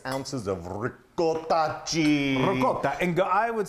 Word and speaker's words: ricotta: And when you say ricotta, you've got to roll your R's.